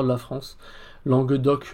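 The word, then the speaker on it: langue d'oc: L de la France langue doc langue d' d'ailleurs on ne prononce pas vraiment le C pour ce qui est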